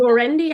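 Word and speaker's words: Norendy: The is it Laurendi? How do you pronounce it?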